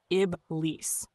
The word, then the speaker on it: Iblīs: Pronounced Iblīs, not genie in a lamp, not 3 wishes with a gold bracelet and questionable customer service.